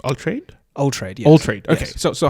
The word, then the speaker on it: Altraide: Altraide, yes.